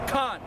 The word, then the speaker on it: Khan: with the brother is Khan. You were saying Cain. You say Cain. It's Khan, man. Not to be smart, not to be an asshole. The proper pronunciation is Khan. K-A-N, Khan.